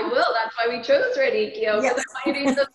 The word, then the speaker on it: radicchio: This might be jumping ahead, but when I went to the store to get the, how do I pronounce the radicchio?